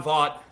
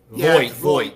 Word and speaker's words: Voight: I want to plug in this one video here of John Vaught. Like I said, guys, bear with me. I'm terrible how to pronounce.